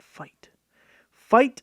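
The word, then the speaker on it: Feit: everyone's favorite pack out and here we have the Fiat fight electric they should pronounce it fight electric 48 inch one light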